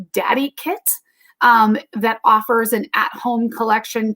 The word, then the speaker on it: DadiKit: And that's called Daddy Kit. It's spelled DADIKIT.